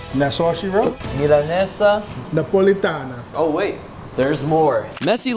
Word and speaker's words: Milanesa Napolitana: Milanesa Napolitana.